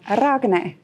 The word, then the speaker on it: Ragne: start are you range i'm like i am ragna that you know that's how i'm going to pronounce it from now on exactly perfect and